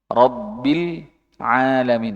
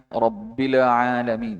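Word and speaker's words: رب العالمين: Rbil bukanlah rabbil robil alamin. Nah, ini dia lam lam sukun temu ain lainnya yang tidak tercermin. Rabbila rabbil alamin.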